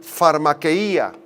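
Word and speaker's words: φαρμακεία: la palabra griega farma farma quea con pH al principio k y acento en la última I en la i farmacía de ahí viene la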